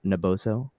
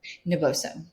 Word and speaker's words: Naboso: on the teaching front and how do you pronounce the name of your company naboso naboso naboso how much time do you when you you're